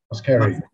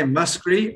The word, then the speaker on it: Muskerry: Muskerry. You can say Muskerry or Muskerry. Yeah. Yeah, I don't laugh at the idea. Whichever you like.